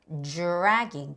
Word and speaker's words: dragging: dr 발음은 어떻게? dragging. 주스 같이 발음해라.